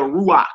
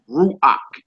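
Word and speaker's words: רוח: go in chapter three this is called a uh an odd vow you know what I'm saying because whenever the uh that vow that makes a a sound is underneath the K at the end of a word it don't make a c sound it make a a sound so that's that's how you spell ruach in Hebrew for spirit ruach ruach all right so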